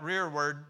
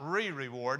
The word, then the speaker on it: rearward: That rearward mean we would spell it in maybe contemporary English, R-E-A-R-W-A-R-D. The rearward. In other words, the rearward. That's not re-reward.